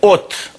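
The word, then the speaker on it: ѿ: Снизу буква омега, которая читается как О, а сверху буква Т. От.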